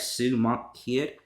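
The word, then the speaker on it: Sue Monk Kidd: And that, of course, is, I think I'm pronouncing this right, Sue Monk Kid.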